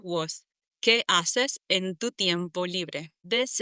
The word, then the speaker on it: haces: Spanish, we don't say haces, we say haces, because we don't pronounce the H in Spanish. It's silent.